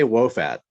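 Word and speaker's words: Wo Fat: So you're going to tell me, I call it Woofat. Am I saying it right? I say Wofat.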